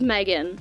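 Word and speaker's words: M3GAN: kid-sized robot companion thing her name is Megan but it's spelled methan and I can't not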